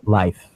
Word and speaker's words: Lyph: So how did you come up with the name Life? Why Life? Everybody pronounces it Lyft.